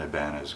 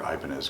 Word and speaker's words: Ibanez: But my starting point is usually to look at an Ibanez guitar or Ibanez guitar, depending on how you like to pronounce it.